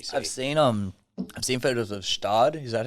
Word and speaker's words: Gstaad: I've seen photos of Stad. Is that how you say it? Stuttgart? No, Stad.